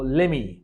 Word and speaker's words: lemme: লে you something এভাবে যখন দ্রুত উচ্চারণ করে ফেলে তখন এটাকে লেমি বলতে হবে সামথিং গিভ গিভ ফিউ